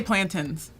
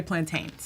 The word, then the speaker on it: plantain: What's the perfect I say plantins. Plantins. Most people say plantains.